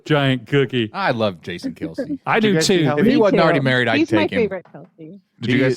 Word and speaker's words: Kelce: did you see that their last name is actually pronounced Kels? And their Kels, parents yeah. got so tired of correcting people, they just let it go. Yeah. it's Kels, but whatever.